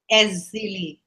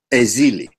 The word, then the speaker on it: Èzili: my sister had said, Sister Èzili, that's how I pronounce your name. Am I pronouncing your name properly, my sister? Èzili. Èzili.